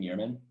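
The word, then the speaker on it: Yermín: is yerman mercedes been is how you say his first name yearman yeah so this was actually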